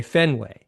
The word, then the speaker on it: Fenway: and it's it's almost like you have to think harder to to pronounce it that way. It's an intentional thing because you should naturally just say Fenway.